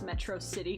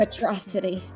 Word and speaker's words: Metro City: by the disguise because he doesn't pronounce metro city correctly mm-hmm atrocity this stupid quirk becoming